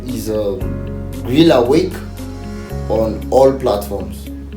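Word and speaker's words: Greale Wake: yet to go so my name is um Grill awake on all platforms awake on Facebook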